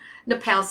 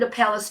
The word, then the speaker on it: napellus: word, it's two words, aconitum Napalis, exactly the way it sounds, folks. It's Latin, so think of it, it's phonetically correct. So Aconitum Napalis 200C, and this is